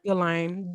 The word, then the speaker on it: Ghislaine: How you say her name? Ghislaine. Ignore the S.